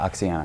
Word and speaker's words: Oxyana: Sean, you are the director of OXYANA. Am I saying it right? Yeah, OXYANA.